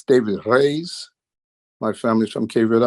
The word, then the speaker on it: Reis: guest hey I'm David Reese actually it's David Rey my family is from Cav Island in Portugal and Americans we say Reese but they would correct me R that's right